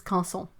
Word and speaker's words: Canson: Do you have to pronounce canson French? Well, you can if you want. It is canson. Those sounds are apparently very difficult to say for someone who is not used to them.